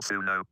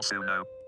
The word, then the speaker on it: Suno: 1 hour 28 minutes at chat at tutorial Suno. It's pronounced like Sonics, but it's spelled with the letter #1.